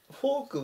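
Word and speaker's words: folk: んですけどもこのフォークは単語が違いますこちらは R ですけどこちらは L を使ってこのように書いてフォクっていう風に発音するのでそこを区別です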